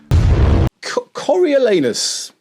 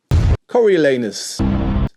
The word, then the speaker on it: Coriolanus: Number 3, Coriolanus. Coriolanus, often referred to as the anus play. You got to pronounce it very carefully.